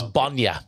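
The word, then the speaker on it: bainne: Oh, I'm not too sure about way, but the main word would be milk though, which is Bonya.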